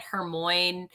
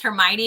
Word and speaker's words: Hermione: out and everybody like my sister was always pronouncing it hermoine in this books because like nobody told her otherwise and then i remember the movie came out and it was hermione and my sister's like